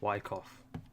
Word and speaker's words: Wyckoff: And all of that is Silent C, Wyckoff.